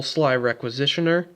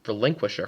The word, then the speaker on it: Sly Requisitioner: In addition, I am running double Sly Requisitioner. Yes, I actually pronounce it correctly this time. I keep calling it Relinquisher for some reason.